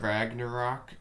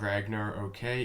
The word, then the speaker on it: Ragnarok: So anyway, we're looking at Ragnarok. I'm told that's how you say it. It's not Ragnar, okay? It's Ragnarok, and he's coming in here on number 8 with a minor attack.